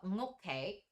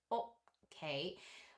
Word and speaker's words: Ngokke: So these two characters are Ngokke, which, like, so he's written that, so I have written this Ngok, like, to reflect that sound at the beginning of the word, and he has suggested okay, which I'm just like,